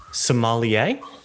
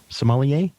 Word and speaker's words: sommelier: say what her job title is you can pronounce that yeah so somalia sommelier sommelier that's the job title okay parna we're